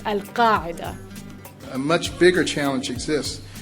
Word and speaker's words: Al-Qaeda: That's a pretty tough one, but still, it's pronounced Al-Qaeda.